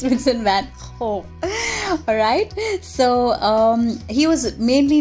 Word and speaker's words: Vincent van Gogh: the Dutch post-impressionist painter Vincent van Gogh. Okay, now that's exactly how the Dutch pronounce it. It's not like we usually think it is Vincent van Gogh. No, it's Vincent van Gogh.